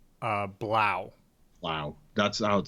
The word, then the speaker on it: Blough: away uh oh man I don't even know if I'm pronouncing this this name right David blow Wow yeah they they pronounced it during the at least announcers were pronouncing it as Blau Wow that's out spelled